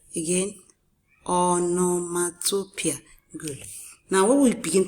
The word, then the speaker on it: onomatopoeia: This is pronounced onomatopoeia. Can you say it after me? onomatopoeia. Again, onomatopoeia.